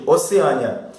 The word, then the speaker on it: Oceânia: O maior império, a Oceânia, pronunciada dessa forma mesmo, Oceânia, que compreende a Oceania, a América, a Islândia, o Reino Unido, a Irlanda e parte sul da África.